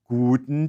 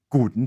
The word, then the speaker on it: guten: word guten tag you'll notice that the u sound in guten is deeper and has a pure tone than english's you the german requires your lips to stay rounded while your tongue rises and bunches up against the roof of your mouth towards the back guten tag imagine